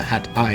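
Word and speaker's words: Het IJ: across the Hat eye the Hat eye is yet another major Amsterdam Waterway and by the way it's spelled h t i j on the other side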